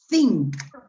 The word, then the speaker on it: think: No, think. La TH, en la mayoría de los casos en inglés, se pronuncia, no en el 100%, pero en la mayoría, es una Z española, con la lengua Ok.